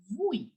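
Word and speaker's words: oui: say it as we yes will be pronounced as vui now some people also call it as Pui now which one is correct actually people both are absolutely right how I'll tell you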